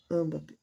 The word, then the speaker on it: Mbappé: Mbappé, Mbappé, porque o é mudo, né?